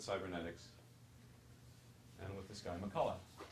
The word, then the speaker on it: McCulloch: And it starts back with cybernetics and with this guy, McCulloch. CH is silent.